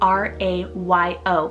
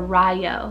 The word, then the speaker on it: Rayo: i have the name rajo spell r-a-y-o or in english you can pronounce it two ways you can do rayo or ryo and this one's also